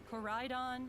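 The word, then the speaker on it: Koraidon: name motorcycle dragons these are the legendary pokemon corridon and miraidon you'll rely on one that's how you pronounce them in your adventure climb on and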